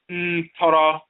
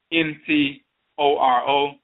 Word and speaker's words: Ntoro: The term Ntoro, N-T-O-R-O, Ntoro, in Akan is the ancient term Ntoro, which is neter, mispronounced neter.